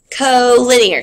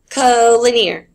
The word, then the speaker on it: collinear: And I bet I heard people in my class saying this wrong yesterday. So it's pronounced collinear. Say it out loud at your school. Collinear.